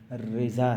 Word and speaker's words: رضا: کیونکہ تلفظ جو ہے وہ رضا ہے.